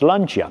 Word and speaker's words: Lancia: It is pronounced Lancia.